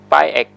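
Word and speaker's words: 拜一: a different way to say Monday is say 'bai5 ig4' Tuesday is say 'bai5 ri6' Wednesday, we say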